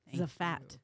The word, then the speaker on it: Zfat: Welcome, Natalie Zfat. Zfat. You got it. I said it right. Yes. Z-F-A-T.